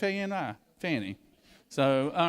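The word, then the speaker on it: Fani: You know, and I did call her Fanny cuz where I'm from, FA I spells Fanny, you know. You can't pronounce it any other way. She won when she got on the national scene, she was like, "We'll call her Fonnie. We'll call her Fonnie." You know, no, it's Fanny.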